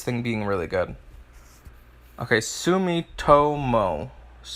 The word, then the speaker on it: Sumitomo: being really good okay Sumitomo Sumitomo that's how you pronounce the other one okay you'll blame